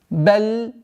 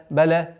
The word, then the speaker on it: بل: بل. Не торопимся, чтобы не переходило в калькаля. Баля. Нет.